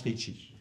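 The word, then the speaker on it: ṛṣi: des consonnes vocaliques donc c'est r pointer s point T et i voilà ça ça se prononce Richie donc là on est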